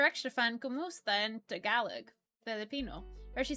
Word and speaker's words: Tagalog: No, it's Tagalog. And I know how to say it.